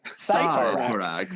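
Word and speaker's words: Cyttorak: Because it's supposed to be Sidorak. This is Cytorak. Cytorak. Like Cytorak. I'm like, what? I hear it pronounced different ways, but I've never heard it pronounced this way. It was, Cytorak, which is very strange.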